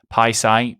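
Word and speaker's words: PiSi: a fork of the pisci package manager i think you're supposed to say it like that anyway that's the one used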